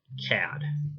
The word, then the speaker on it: CAD: That's pronounced CAD, as in the old, like, what, 40s or 50s, maybe early 60s expression. It's like, oh, what a cad, which I guess means